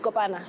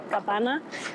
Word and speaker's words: kapana: like an open fire, it was kopana. They call it kapana, which is essentially like, you guys know, like iprai.